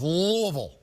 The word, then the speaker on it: Louisville: roommate from there says say it like you got marbles in your mouth louisville there you go and